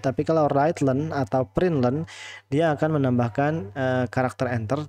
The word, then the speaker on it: println: Kalau pakai print learn ya, print learn LEN, cara bacanya print learn bukan print line.